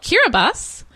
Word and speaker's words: Kiribati: like you're a buddy did you find out why TI is pronounced s I do not know why TI is pronounced s I know why it's the place is called Kira bus but this is one